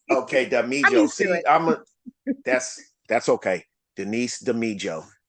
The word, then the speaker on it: Damijo: Without further ado, Denise Damijo. Did I say it right? No, Damijo, but that is quite okay. Okay, Damijo.